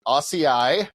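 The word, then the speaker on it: açaí: And I had to look this up because I always mispronounce it. Acai, right?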